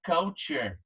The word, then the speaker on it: culture: Eu chamo a atenção para você da pronúncia da palavra cultura. Em inglês, culture. Culture, ok? Repete aí. Culture. Para você não falar errado. Mais uma vez. Culture. Culture. A mesma coisa, a pronúncia sai aqui da garganta. Mesma coisa quando a gente vai falar a palavra cup.